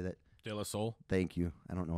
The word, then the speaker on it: De La Soul: De La Soul.